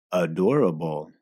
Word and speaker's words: adorable: Vean que la misma palabra, que en español se pronuncia adorable, pero la pronunciación lo hace difícil reconocer y aún más difícil pronunciar.